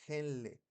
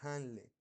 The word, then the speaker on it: Henle: Ingresa el se le llama asa de henle o de Hanle, pero se escribe henle con h.